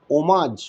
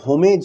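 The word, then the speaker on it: homage: আমরা আমাদের গান, আবৃত্তি, কবিতা বলা, বিতর্ক এই সব কিছুর মাধ্যমে শ্রদ্ধার্ঘ্য, ওমাজ কথাটার আগে দেখবে এইচ আছে, কিন্তু হোমেজ বা হোমাজ না, উচ্চারণ হবে ওমাজ।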